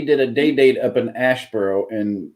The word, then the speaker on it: Asheboro: went up we did a day-date up in Asheboro and it's Aspera that's how it's pronounced here um and it happens twofold because